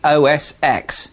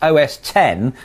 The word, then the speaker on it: OS X: Please stop saying OS X. It's been pronounced OS 10 since 2002, and I thought you might have caught on by now.